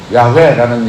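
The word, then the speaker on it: 야훼: 히브리 말로는 그 자음밖에 없어요. 모음이 없어요. 그래서 야회라는 얘기는 YH를 발음을 하니까 야회 이렇게 얘기를 합니다.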